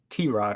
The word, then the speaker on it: Tyrod: We have, so a lot of us pronounce it Tyrod Taylor. I was just watching a Baker Mayfield press conference the other day. I think he pronounced it Tyrod or T-Rod or something different.